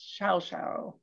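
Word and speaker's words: Llao Llao: the show-stopping hotel shouschao it's spelled l-l-a-o but it's pronounced shao shao this is one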